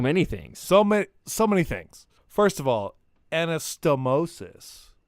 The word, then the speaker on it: anastomosis: First of all, anastomosis. That would be the correct pronunciation of that.